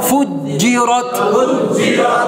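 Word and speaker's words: فُجِّرَتْ: করেন Fuji, Fuji, Fuji, রয়ে আকার রা হবে, রর মধ্যে আকার হবে, রর মধ্যে জবর উচ্চারণ আকার উচ্চারণ হবে না, কারণ আটটা হরফ মোটা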